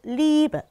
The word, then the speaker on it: Liebe: 자, 예시 단어 볼게요. 사랑, 독일어로 Liebe, Liebe 이고요. 이 단어도 에로 끝나죠. 그래서 위에서 봤던 양모음이 등장을 해요. 그래서 Liebe 아니고 Liebe, 이런 식으로 발음이 흐려진다라고 생각하시면 되고요.